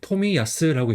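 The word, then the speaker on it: 冨安: 그래서 성 같은 경우는 이제 토미야스라고 읽어요. 그래서 앞에 앉자는부. 그다음에 두 번째는 편안한 안. 편안한 안은 야스로 많이 읽어요. 그다음에 VF는 토미. 토미 야스.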